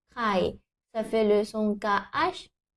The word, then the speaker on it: ไข่: Et à savoir, très important, en français, il n'existe pas de son KH aspiré comme en thaï. Le son que. C'est comme le KH en français, mais c'est soufflé. Ah, la technique simple, c'est comme le K en français, mais rajouter un souffle. Que, que. Et tu peux mettre la main devant ta bouche, comme ça, tu vois si tu prononces bien ou pas.